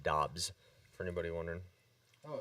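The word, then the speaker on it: Doubs: he came out and he said his last name is pronounced dobbs for anybody wondering oh it's so it's just romeo dobbs debs it's not daubs or dubs or however people are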